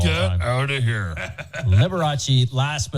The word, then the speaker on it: Liberace: Can I say the funniest part of the show so far is Matt trying to pronounce Liberace there? Yeah, Liberous?